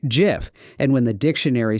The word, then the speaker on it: GIF: How do you say it? Hard G, like gift, or soft G, like the peanut butter?